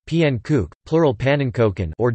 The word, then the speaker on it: Pannekoek: a pending cook Dutch pronunciation PN kook plural pan and Koken